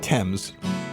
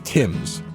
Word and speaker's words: Thames: I'm going with Thames. You went with Thames. According to Baseball Reference, it's Timms.